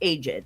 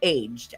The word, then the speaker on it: aged: She said, "If you're talking about people, it's aged." However, if you're talking about wine or cheese, it's aged as one syllable.